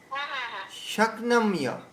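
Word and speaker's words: शक्नोम्य: ন চ শক্নম্য, শক্নোম্য বস্থাতুং, শক্নোম্য বস্থাতুং ভ্রমতীব চ মে মনঃ। শক্নোম্য, এই উচ্চারণটাকে আপনাদের ধ্যান রাখতে হবে।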